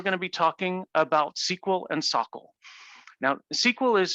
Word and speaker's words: SQL: that's how it's pronounced sql or sql please don't mess up and say squeal that's just not good form sockl is the salesforce